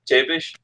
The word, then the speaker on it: Przybysz: Yes, my real name is, or my birth name was Chevish. is a little better. Incidentally, that last name right there, Chevish, that's an actual Polish last name.